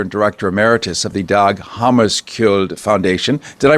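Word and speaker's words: Dag Hammarskjöld: director emeritus of the dog hamus kill Foundation did I pronounce that fairly accurately Hammer more or less the the the writing is misleading it's actually Hammer you don't pronounce the k but that's a common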